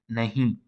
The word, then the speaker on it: nahi: So usually it is nasalized in careful pronunciation, nahi, nahi. But sometimes they just say nahi, nahi. So you can say you can listen that here e is not nasalized.